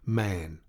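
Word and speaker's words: Mahon: man but he insisted that it should be pronounced man he was well connected yet there was something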